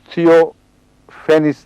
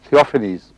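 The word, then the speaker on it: Theophanes: سب سے پہلے حضرت اقدس محمد رسول اللہ پر ایپیلیپسی کا الزام لگانے والا شخص ایک بیزنٹائن ہسٹورین تھیوفینس تھا. تھیوفینیز اس کا تلفظ ہوگا.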